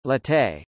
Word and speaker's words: Jetée: La jetée, French pronunciation, jetée, the jetty, here referring